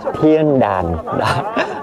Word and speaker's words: Thiên Đàn: Chữ đàn mình đọc theo kiểu miền Nam thì giống như có G nhưng mà thực chất nó là A nha mọi người. Đàn nha. Thiên đàn. Tên đúng của nó phát âm chính xác là như vậy ha.